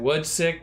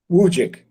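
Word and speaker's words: Wujcik: I mean, I know you've talked before about how Eric, I don't know how to say it, Woodsick was like your the writer. Wujik. How do you say it? Wujik. Oh, Wujik.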